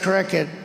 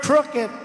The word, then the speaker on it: crooked: They had a word the other day, crooked. I said cricket, you know. And rather than go back and I don't like to go back because going back means you made a mistake. You just blast through it. He didn't know how to pronounce the word crooked.